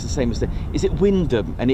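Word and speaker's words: Wymondham: And it's Windom. There you go. So imagine coming from another country trying to land and do your operations and landing at uh you know Windom for example when it's spelled Wyundam. You probably get that absolutely wrong.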